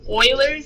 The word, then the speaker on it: Euler: one boilers method it looks like you lose but it's not Euler's is how you properly say his name and I think German